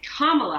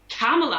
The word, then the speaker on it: Kamala: her kamala harris and apparently it's it's more like how americans say the word comma so like the punctuation but of course i